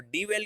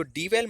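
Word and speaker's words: dwell: और डिवेल का मतलब बहुत ही सिंपल है, LIVE। डीवेल मतलब रहना, ओके। तो डीवेल मतलब रहना, डीवेल की जगह इसका प्रोनाउंसिएशन डवेल होता है, क्या होता है, डवेल, डवेल मतलब किसी भी एक स्थान पर रहना।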